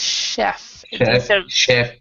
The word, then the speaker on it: chef: And one thing uh Jose, even though you fixed your answer, the pronunciation of this word is chef.